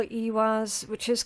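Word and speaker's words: Ehwaz: Um I call it Ewaz, which is correct. Some people uh depending on what region they're from, they might pronounce it as Awaz, right?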